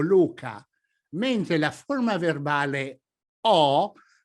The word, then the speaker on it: ho: As for example in: YELLOW OR RED DAY OR EVENING MARA O LUCA While the verbal form HO ( I HAVE] should be pronounced with OPEN SOUND.